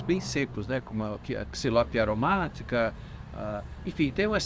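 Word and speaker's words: Xylopia: São todas anonáceas do gênero Xilópia, ou Xilópia. Essa é a pronúncia correta.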